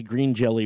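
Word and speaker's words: Green Jellÿ: It's funny, if you go to their website, it's Green Jelly with an umlaut above the Y. Right. And it's underneath it says the Y is pronounced O.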